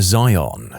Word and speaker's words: Veon: and she told us she wanted him named Zion. We were like, "Oh, cool. No problem." So, we asked her to fill out the paperwork of everything for us to submit and put in the chart and she wrote down Veon. She looked us dead in the airs and said, "The V is silent."